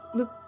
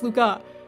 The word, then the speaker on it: Luca: water and touched Luke Luke his name's Luca excuse you he's dying and you got his name wrong his name's not Luke it's Luca his forehead with a